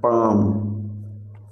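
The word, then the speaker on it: palm: हथेली का मतलब है पाम। पाम, तो पाम में जो आपका साइलेंट लेटर है वो है एल। एल को यूज नहीं करते हैं पाम को प्रोनाउंस करते समय।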